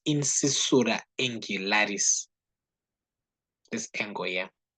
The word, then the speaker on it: incisura angularis: Or we can just say angular incisure, but that's not how we properly call it. It's incisura angularis.